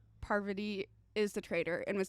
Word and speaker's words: Parvati: Oh, Parvati. Did it. I always want to say poverty.